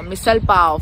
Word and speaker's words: misal pav: My misal pav.